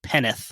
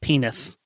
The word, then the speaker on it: Penwith: just and West penwith that could be pronounced like penneth or something I'm assuming that most of these are pronounced in a non-obvious way west penith this is fine